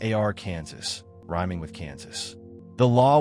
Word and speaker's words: Arkansas: Arkansas would rather have a pronunciation law than endure another decade of being called AR Kansas by confused tourists and television announcers.